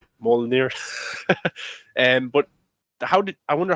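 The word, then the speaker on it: Mjölnir: Mjolnir, Mjolnir.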